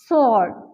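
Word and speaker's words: sword: right so सॉर्ट ने हमने blue को माइंस कर दिया मतलब ये हमारे पास जो है साइलेंट है ब्लू तो इसे हम किस तरीके से भी प्रोनाउंस करेंगे इस pronounce like date सॉर्ट एस सौर ठीक है ब्लू का साउंड बिल्कुल भी नहीं है एस ओ आर दी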